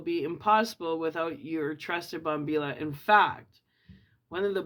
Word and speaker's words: bombilla: Pronounced Bombilla. Not la. The L is silent, I guess. Pronounced Bombilla.